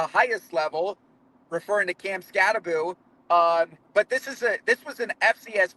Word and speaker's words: Skattebo: So you mentioned Cam Skattebo, and I'm very proud of myself that I pronounced his name correctly, because I know that's the type of name that you can be butchered frequently.